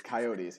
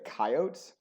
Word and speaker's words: coyotes: coyotes some people say coyotes particularly more rural areas and it infuriates me um because the correct pronunciation is coyotes it is a native american word and that's how you say it not coyotes it's like the same